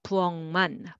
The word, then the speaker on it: 부엌만: And 부엌만, but together, 부엌만, 부엌만.